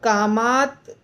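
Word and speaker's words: कामात्: कामात क्रोध अभि जायते तो कामात आधा त और क्रोध और उसके बाद अभि जायते सब जुड़ गया कैसे कैसे हो गया इसमें कामात का आधा त क्रोध के साथ जुड़ा तो कामात क्रोध क्रोध हुआ क्योंकि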